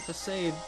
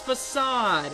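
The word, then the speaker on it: façade: get tm 42 pasade or how do i pronounce it for i know how to pronounce that word it's facade oh my goodness anyway i know how to pronounce that stupid word anyway i guess i'm used to seeing it with the funky c2 um facade yeah still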